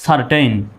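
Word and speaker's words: certain: দ্বিতীয় শব্দটা দেখুন, সি এর পরে ই আসছে, ওই একই সির পরে ই আসছে। সুতরাং এখানেও সির উচ্চারণ কিসের মতো হবে? স্বর মতো হবে। তাহলে CER, সার, সার। TAIN, টেইন, কি? সারটেইন।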